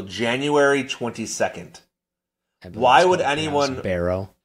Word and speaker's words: Barrow: Alright, borrow Alaska yesterday. The sun set there. The sun will not that that city will not see sun until January 22 Why would anyone Barrow, it's pronounced, want to live there because that